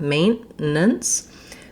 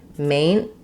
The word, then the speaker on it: maintenance: I just need my N to be very short, maintenance. So it ends up sounding kind of more like maintenance.